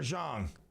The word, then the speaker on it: Jeong: It's either Jong or Zhang.